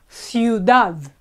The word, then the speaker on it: ciudad: So a city in Spanish is ciudad. We have I and U together in the same syllable.